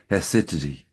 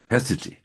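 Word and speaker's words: haecceity: who he called it, I probably don't pronounce it correctly, even I can see it's spelled Haeccity or something like that. And it's pronounced roughly Hesity, Hesity.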